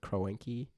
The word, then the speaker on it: Kroenke: I mean, ticket prices were ridiculous, and fans were protesting in the streets before games, complaining against, I think you pronounce his name, Kroenke.